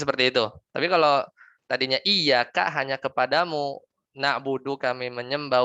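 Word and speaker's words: إِيَّاكَ: Atau misalnya iyyaka na'budu wa iyyaka nasta'in.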